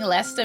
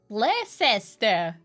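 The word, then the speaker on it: Leicester: back to my rounds pronouncing leester makes no sense Lester is how I hear American Beautiful Bast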